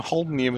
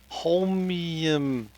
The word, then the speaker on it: holmium: There's no Ian in holmium. I am saying holminium.